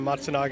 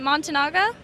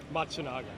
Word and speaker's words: Matsunaga: so what does the how do you pronounce it montanaga matsunaga matsunaga um what is that so